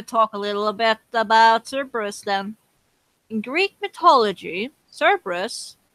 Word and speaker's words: Cerberus: How about the dog Cerberus? Or Kerberos, Oh yeah, however you the like to pronounce it.